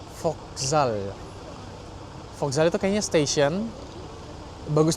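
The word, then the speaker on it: Вокзал: Jadi itu bacanya Vokzal.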